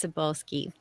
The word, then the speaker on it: Cybulskie: and you are asking how to pronounce my last name everyone stumbles over it so don't worry about it it's sabolski and I just want